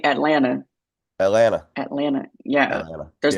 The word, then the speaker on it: Atlanta: You should say Atlanta. Atlanta, Atlanta. Yeah. Atlanta. There's Yeah. the second T is silent if we're Oh, really getting granular.